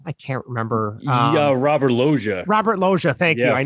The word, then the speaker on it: Loggia: And I think is it Robert Delia? Is he the one that plays the general? I can't remember. Yeah, Robert Loggia.